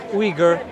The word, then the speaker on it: Uyghur: Uyghur. Yeah, yeah, yeah. Some people pronounce it Uyghur. Uyghur. I just go with Uyghur.